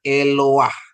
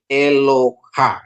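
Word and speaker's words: אֱלוֹהַּ: stolen patanya jadi bacanya eloah artinya Allah Ya eloah itu Tunggal ya tunggal kalau Elohim itu jamak ya dalam dalam bentuk singuler ya Jadi ini eloha ya eloha bukan bacanya eloha tapi eloah ya Ini namanya stolen pat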